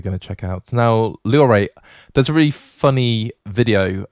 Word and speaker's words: Loire: Now, when I did my French GCSEs, as we call them over in the UK, I was taught to pronounce to the last vowel. So that'd be the E.